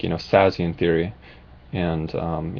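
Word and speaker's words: Szasz: also make some videos on like you know sassy and theory and um you know depression and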